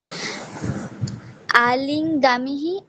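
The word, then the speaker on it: আলিঙ্গামঃ: বিসর্গ উচ্চারণ করতে হবে। বিসর্গের উচ্চারণ হচ্ছে না সোনালি। আলিঙ্গামিহি, আলিঙ্গাবহ, আলিঙ্গামহ।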